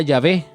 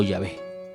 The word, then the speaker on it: Yahvé: Tetragramatón, que probablemente se pronunciaba Yahvé, ¿sí?